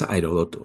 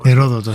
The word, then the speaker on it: Heródoto: Y eso solo debemos a alguien que que también como siempre aconsejo que se lea, que es Herodoto o Heródoto. Heródoto, sí, Heródoto.